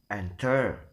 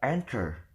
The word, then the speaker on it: enter: the stress is in the first syllable. For the example is the word enter. We will never pronounce it as enter, but enter.